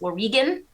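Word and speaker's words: Wauregan: I think someone corrected me that it's actually pronounced Oregon yes is w-a-u-r-e-g-a-m w-a-u-r-e-g-a-n yeah but that was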